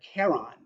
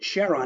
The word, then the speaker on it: Charon: he prefers the pronounciation Charon for that moon of Pluto's that would otherwise be pronounced Charon with a hard C so is an interesting